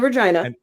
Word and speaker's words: Regina: Regina in Regina in the Regina the city that rhymes with fun and uh we're sity